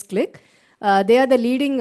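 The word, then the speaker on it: Qlik: very well-known company called click it is actually qli ik but we pronounce it as click uh they are the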